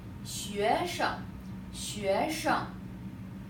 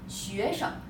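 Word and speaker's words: 学生: But you can try to pronounce this way. 学生 You make the 生 here very short. Like some students pronounce like 学生 You can pronounce that 学生 Make it very short.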